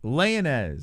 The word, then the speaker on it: Lainesse: row this guy man layingez that's how you say his name leoness laying as for